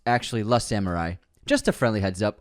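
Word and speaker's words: Le Samouraï: Slim Shady on penguin episode Le in is pronounced like l in French so it's actually L Samurai just a friendly heads up also unsubscribed thank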